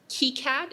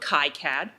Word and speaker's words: KiCad: So plenty of people have already talked about what I learned today is pronounced KiCad and not KiCad.